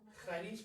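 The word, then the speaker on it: χάρις: Pero en griego es chi, la letra X en griego, ¿no? Pero X en griego es xi. Entonces, no es como que se escribe como el X de México, ¿ok? Haris, pero se pronuncia CH, por así decir.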